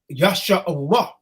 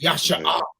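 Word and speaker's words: ישראל: In the Lashawam Kadash is Yashar'Allah. You hear some people that follow these Edomites, they mispronounce it Yasha'ah. It's not pronounced like that, man.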